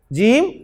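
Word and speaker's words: جيم: Proof में जिन्हें मैंने अरबी प्रोनाउंसिएशन में अलिफ के साथ पढ़ा है, बा, ता, सा, जा नहीं पढ़ा, जीम, हा, खा, दाल, जाल, रा, जा।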